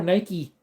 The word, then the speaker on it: Nike: They call Nike Nike with the E silent. N-I-K, Nike.